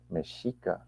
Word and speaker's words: Mexica: it meshika you know meshika you pronounce the X with the s s h um and there's just